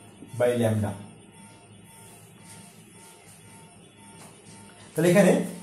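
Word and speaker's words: lambda: হচ্ছে ল্যামডা বলা আকার ম ডা ময় ল্যামডা উচ্চারণ ল্যামডা ল্যামডা ল্যামডা হচ্ছে কি শোষিত বা বিকিরিত শক্তির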